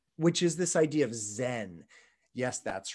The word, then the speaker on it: Zen: is not tonal and they pronounce this character Chan Zen zeen and so if